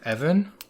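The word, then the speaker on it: Even: up going oh EV Evan yeah his name was like it's like Greg the Jedi um it's spelled weird but yeah it's just like a really normal sounding name but I guess oh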